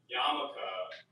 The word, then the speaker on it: yarmulke: Personally, I did not know that yarmulke was spelled like that. There's an L in there. Good subtitles for me. This whole time, I'm spelling it too phonetically.